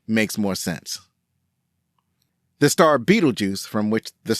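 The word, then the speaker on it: Betelgeuse: No matter which spelling is used, the pronunciation is the same. Beetlejuice is a strange name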